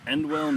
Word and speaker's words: Endwell: I was born in Endwell, New York. Can you spell that for me?